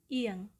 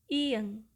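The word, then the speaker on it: 이응: Konsonan tunggal ke-8, nama hurufnya adalah ieng, ieng. Dan huruf konsonan ini cukup spesial karena dia tidak memiliki bunyi. So there's no sound for this consonant, tetapi teman-teman bisa mengingat nama hurufnya, yaitu ieng, ieng, ieng.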